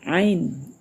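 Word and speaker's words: ع: Bagi yang belum mengerti dengan ee makhraj huruf ya ain. Nah, bar di atas nanti berbunyi aa bukan a. Nah, ya ainnya jangan ditinggal tapi tinggal menambah ee suara ain tambah a aa itu ya.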